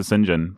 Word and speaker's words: St. John: whole time I mean I'm probably gonna call him Sinjin because I'm used to Sinjin but it's okay we can we have all types that's how they pronounced him all right guys let's